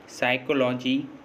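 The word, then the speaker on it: psychology: जैसे साइकोलॉजी, psychiatrist, साइकोथेरेपी, इन सभी words में देखिए एस से पहले पी आ रहा है और जब भी किसी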